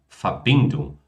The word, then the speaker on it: Verbindung: Ou seja, esse ung, ele nunca é pronunciado forte, né? Pronuncia então só como Die Rechnung, die Verbindung, die Mitteilung, die Abteilung, die Befreiung, ou seja, não tem g nem k, tá?